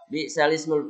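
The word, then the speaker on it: بئس الاسم: Jadi lam yang mati justru menjadi hidup. Alifnya justru yang hilang.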